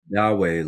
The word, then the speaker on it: Dawai: Dawei, like you could think of it maybe Dawei. like the Tao way.